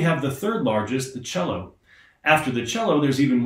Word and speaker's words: cello: Cello has that CH sound at the beginning, but believe it or not, it's spelled C-E-L-L-O. There's no H in it at all.